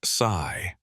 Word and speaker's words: Saai: anyone Zack continued anyway the ai's name is saai he pronounced the word like saigh you named the AI